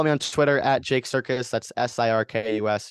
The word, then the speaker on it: Sirkus: Follow me on Twitter at Jake Circus.